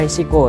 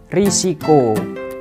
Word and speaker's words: risiko: itu dalam penulisannya risiko Memang sih dalam pengucapan itu kita lebih mudah menggunakan kata resiko tetapi yang benar dalam penulisan ataupun dalam penyebutan harus menggunakan kata risiko begitu teman-teman baik teman-teman